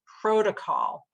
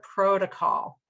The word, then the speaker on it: protocol: So, "rose coat" sounds like O, so the word I'm using here as an example is protocol, where, again, the stressed syllable is the first syllable in this word: protocol.